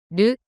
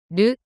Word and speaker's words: る: る、る、 The pronunciation of character ru in Japanese is something like the combination of R double O in English.